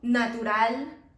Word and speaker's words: natural: Like the strongest pronunciation will be at the end. La pronunciación más fuerte es al final. So animal, normal, natural, individual.